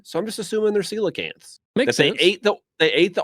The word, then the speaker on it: coelacanth: No, they call it coleocanth. Oh, It's a coelacanth. It's always been a coelacanth.